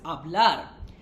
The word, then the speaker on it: hablar: Let's take the verb speak, that is hablar. ¿Qué significa hablar? To speak. Hablar. The spelling of hablar is Hablar, where H is silent because that's how we do it, right?